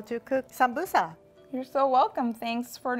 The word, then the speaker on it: sambusa: So we call this in Ethiopia sambusa. Sambusa. It almost sounds like samosa. I don't know where the translation got lost, but we pronounce it sambusa. But it's the same as samosa.